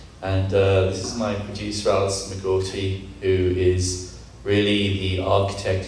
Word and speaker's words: Allison McGourty: And I don't really know how to pronounce her first name, so... My name is Allison McGourty.